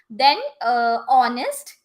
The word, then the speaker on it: honest: r r that is honest yes so all these are something before which we use and though the word is starting with h yes but the H is silent right H is silent